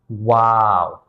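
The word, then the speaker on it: واو: The way you pronounce wow is exactly like that. You see something beautiful, and you say, "Wow, that's beautiful." It's kind of like that.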